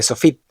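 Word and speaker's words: סוף: Fíjate que en palabras como anaf, que significa rama, af, que significa nariz, kesef, que significa dinero, y sof, que significa final, la P sofit se pronuncia como una F.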